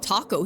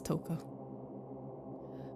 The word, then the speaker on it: Toko: It smells like taco here. Or Toko, excuse me. I always forget it's Toko.